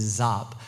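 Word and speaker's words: Giáp: these forces and the Marines were going to get overwhelmed and it was going to be horrible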